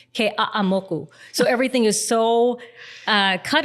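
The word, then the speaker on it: Keʻeaumoku: bad, but it's like every syllable has to be pronounced. Even like you can't say Ke'amoku, it's Ke'a'amoku.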